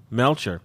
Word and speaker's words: Melchior: Mike and the gang my name is pronounced like Belcher but only with an M Melchior uh you can find